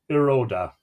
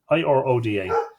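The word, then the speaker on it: Iruaidhe: And the hound whelp I claim is the hound whelp of the king of Iroda. It's good. It's I-O or U-A-I-D-H-E, but there's a pronunciation guide, I-R-O-D-A.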